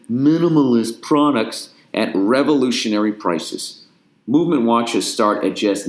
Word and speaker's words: MVMT: MVMT watches, pronounced movement, was founded on the belief that style shouldn't break the bank.